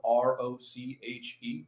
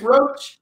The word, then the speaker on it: Roche: w roach uh roach is spelled r-o-c-h-e there's no a and by the way bc i had to apply a bit of mindfulness ooh you you say my name roche oh wait every time i'm american it's roach i could call you so it is roach with a hard ch into it like the bug all right yeah yeah